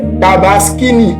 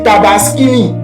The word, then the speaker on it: Tabaski: Voilà, luiême sa que c'est parce que là là les peup il dit tabas tabini tabaskini au lieu de tabaski il dit tabaskini et là au lieu